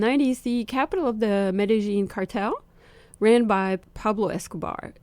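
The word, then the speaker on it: Medellín: we did actually go directly to medin I pronounce it correctly used to say medine but it's actually medine and so we went there first for a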